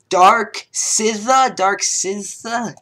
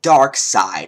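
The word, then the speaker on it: DarkSycthe: Dark Sitha? Apparently he pronounces it Dark Side, and I would want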